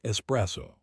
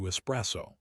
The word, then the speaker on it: espresso: So why do English speakers add an X? It's because we have a strong prefix pattern in English with X. We say express, explain, expel, export. Our brains are so trained to hear X at the beginnings of words that we unconsciously add it to espresso.